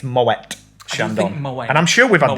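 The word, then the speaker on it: Moët & Chandon: it includes well done that's how you say it apparently it didn't say my way like everybody says and it's moet shandong and i'm sure we've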